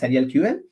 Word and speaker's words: SurrealQL: is Surreal query language, but we call it as SurrealQL.